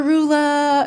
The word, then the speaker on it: Roula: Or Rua. Anybody want to spell it? What is that? Huh? For the record, I do usually say Rua, but there are times I'm like, "Oh, let's just make this easy for everyone."